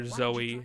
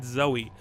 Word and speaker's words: Zoe: do data by the way that is the pronunciation for Zoey is that even though it's spelled zou and there's not a y at the end it according to hunters dialogue it is indeed Zoey which I always fail to understand as a